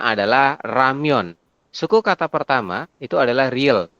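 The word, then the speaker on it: 라면: diakhiri dengan n nah penulisannya berarti menjadi seperti ini ramion dibacanya ramion ramion Ya heeh tapi tulisannya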